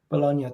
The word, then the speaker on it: Bologna: in italy uh right for how do you pronounce that name again bologna thank you i'm terrible with pronunciations guys if